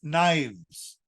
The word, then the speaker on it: knives: those who understand it now let's say knife knives wife wives Thief thieves leaf leaves do you